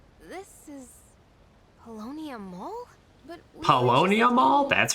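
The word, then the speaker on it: Paulownia Mall: to mean well this is palonia mall but palonia mall that's how you pronounce it what's going on did we make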